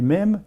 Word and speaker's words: mèmes: Selon Richard Dawkins, un grand biologiste anglais, il a proposé l'idée que des mèmes, ça s'écrit comme gènes, mais mèmes, M-E accent grave M-E, sont des gènes sociétaux